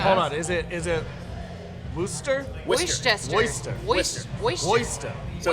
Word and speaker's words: Worcester: Worcester. Worcester. Worcester. Oyster. So it's, Worcester. So it's like oyster, Worcester.